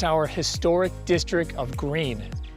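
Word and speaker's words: Gruene: our historic district of green it's pronounced green even though it's spelled differently again another one of our German surnames so green is a hot tourist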